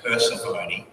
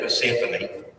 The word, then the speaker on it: Persephone: You know, a number of times kids have said to me, her name is Persephone instead of Persephone.